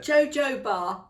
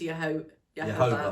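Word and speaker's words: jojoba: able to say it JoJo bar it JoJo bar JoJo Bar Oil I know that's not how you say it it is Yoba oil Yoba oil um and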